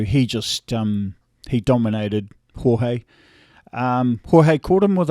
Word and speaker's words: Jorge: george uh or jorge i say george but it's the proper way to say is jorge jorge um uh yeah that